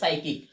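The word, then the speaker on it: psychic: এর অক্ষর থেকে বাকি শব্দগুলো উচ্চারিত হবে সাইকিক। তার উচ্চারণ কি?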